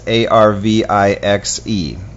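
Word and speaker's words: Arvixe: It's Arvix. I always pronounce it wrong, but it's A-R-V-I-X-E. Arvix is how it's pronounced.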